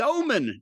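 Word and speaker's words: Ohman: They've also got the omen. No. O H M A N. It's pronounced Omen.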